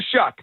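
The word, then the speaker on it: Shough: All last year I didn't pronounce his name right and then I heard his his announcers week one I said Tyler Shuck that's how you do it.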